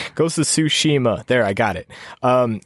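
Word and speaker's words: Tsushima: psyched about like ghost of suima and uh I can never pronounce that right ghost of sushima there I got it um and like cyber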